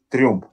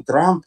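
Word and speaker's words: Trump: Трюмп. Да. Знаю, конечно. А почему Трамп, там же идет Ю у него? Ну, потому что так в английском языке читается «ю» как «а» чаще всего. Все, теперь понял. Трамп.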